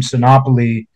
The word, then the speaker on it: Sinopoli: to Joe Rugnetta, who was from, is it Sinopoli? Is that how you say it? Yeah. The Rugnettas were from Sinopoli.